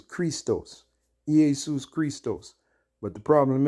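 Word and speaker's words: Χριστός: to be Christ because the correct pronunciation in the Greek was Christos eus Christos but the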